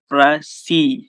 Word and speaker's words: précis: The word pressy is pronounced as pressy। अगर इसको हम देखें वैसे एक नॉर्मल बंदा लेमैन पढ़े तो वो क्या पढ़ेगा, प्रेसिस या प्रेसिस। तो लेकिन ये पढ़ी जाती है प्रेसी।